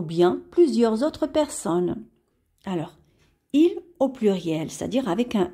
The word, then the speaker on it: il a: Il a, on ne va pas prononcer de cette façon parce qu'on doit faire la liaison, c'est-à-dire qu'on relie la consonne L avec la voyelle A. Et on dit il a.